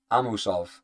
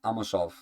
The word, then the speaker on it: Amosov: Amusov. Amosov. Yoruslav. Amosov. There we go. I said it. Yoruslav. Amosov. Amosov. I'm adding syllables.